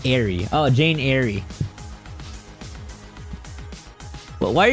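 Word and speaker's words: Eyre: I don't know what Jane Ireie is fortunately. is I'm guessing that's another classical book pronounced airy.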